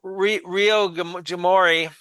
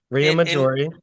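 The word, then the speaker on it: Riomaggiore: So, we stayed in Ri Rio Jamorei. Can't pronounce that either. And you did you did great. Rio Majori Rio Majori and we we walked through Manorola which was absolutely incredible.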